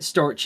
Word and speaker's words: Storch: And then like Storch is like a stork, but Storch is like how you say stork in German, so Storch.